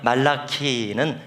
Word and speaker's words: 말라키: 그러나 이 말라기는 히브리어로 말라키라고 읽습니다. 키입니다. 그 한문이 아니고요. 무슨 뜻이냐면 나의라는 뜻입니다. 말락은 천사라는 뜻도 되고 사자라는 뜻도 되고 전령이라는 뜻도 됩니다. 종이라는 뜻도 됩니다. 그러니까 말라키는 사람 이름이 아니라 나의